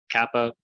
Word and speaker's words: Kappa: Kappa, hard C sound or like a K, never cha, like sometimes the C is in Italian, never sa, like in the word city, even though it's a